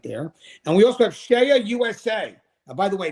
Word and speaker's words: CEIA: And we also have Shea USA. Now, by the way, it's spelled CEIA.